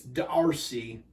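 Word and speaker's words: D'Arcy: penalty minutes DRC Coulson I know that looks like Darcy but the way it's spelled out on hockey reference is d slash RC like brindamore it's Darcy Coulson 103.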